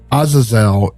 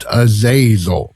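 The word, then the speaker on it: Azazel: But before I go on, let me interrupt my own little diet tribe to point out that Aazelle is indeed pronounced Aazel and not Aazil.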